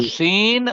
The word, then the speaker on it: سین: تو سین اور سواد ان کو الگ کرنا ہے نطق کے لحاظ سے، ایک موٹا ہے اور سین کیا ہے؟ باریک. باریک، طریق باریک کہنا ہے، پتلا کہنا ہے.